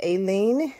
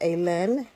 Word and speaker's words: Alin: Some pronounce it Aileen. Some pronounce it Alin.